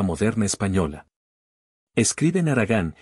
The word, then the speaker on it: haragán: o et en Andalucía también aspiran la H que es muda siempre en español y la palabra Haragán por ejemplo la pronuncian como los sefardíes haragan a propósito los sefardíes